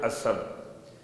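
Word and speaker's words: اصب: نہ ہوئی ہو تو الف کے بعد سے نہیں، سین نہیں، سواد ہے، اسب۔ اسب کا ترجمہ لبریز۔ لبریز کسے کہتے ہیں؟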